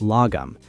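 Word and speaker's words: lagom: The Swedes have a cultural concept called lome pronounced logum.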